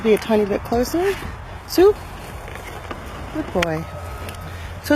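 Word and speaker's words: Such: I think it's spelled S-U-C-H when I say Sue.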